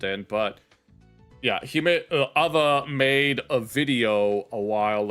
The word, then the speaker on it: AWE: His name is spelled AWE, but it's pronounced Ava.